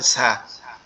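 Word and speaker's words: ز: কি, সেটার নাম হচ্ছে ঝা, ঝা। এটা কিভাবে উচ্চারণ হবে, জিহ্বার আগা নিচের দুই দাঁতের আগার সঙ্গে লাগবে, লেগে উচ্চারিত হবে ঝা, ঝা, ঝা, ঝা।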